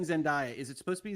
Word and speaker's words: Zendaya: So- It is pronounced Zendaya. Zendaya.